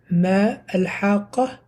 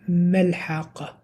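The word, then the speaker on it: ما الحاقة: So, instead of Ma al-Haqqa, it became Mal-Haqqa.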